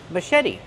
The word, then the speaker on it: machete: like Sho Mas maet put the stress on the second syllable and make the vowel